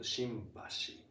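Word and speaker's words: 新橋: But there's another station called Shinbashi. Shinbashi. Yeah, it sounds like M, right?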